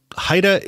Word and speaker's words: HIDTA: so what is Haida Haida is how we pronounce the acronym that stands for high intensity drug trafficking area according to the DEA